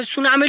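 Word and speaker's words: tsunami: जिनमें साइलेंट होते हैं क्या साइलेंट सुनामी लिखना है तो टी से स्टार्ट होगा सुनामी टी से स्टार्ट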